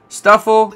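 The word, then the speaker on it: Stufful: trum break hip lima why is there two l's like you don't pronounce the first one stuffel wingo pattini bounce sweat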